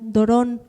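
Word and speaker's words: δῶρον: Y esta palabra, don de Dios, viene del original en ambos pasajes, de la palabra dorón, con acento en la primera O, dorón, que significa presente.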